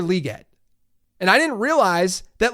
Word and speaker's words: Legette: So I'm big on pronunciations. I've learned that it's not Xavier Legette, it's Xavier Legette.